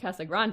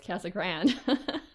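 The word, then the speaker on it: Casa Grande: Arizona that's the at least the Ang Arizona pronunciation when I first got here I kept calling it ca Grande I mean it's still angli sized but like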